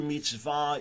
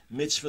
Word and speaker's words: mitzvah: Hebrew mitzvah, Yiddish, the colloquial pronunciation, mitzvah, the pronunciation on the first syllable.